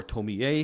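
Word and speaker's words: Tomie: if you don't know it Tommy or Tomy a if you want to do the very exact Japanese pronunciation I think we should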